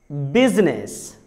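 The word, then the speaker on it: business: सिर्फ एक वर्ड है जिसमें लेटर आई साइलेंट होता है और वो वर्ड है बिजनेस. बिजनेस.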